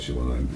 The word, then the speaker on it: Siobhan: Siobhan, I always call it Siobhan because that's the Scottish way of pronouncing it, Siobhan.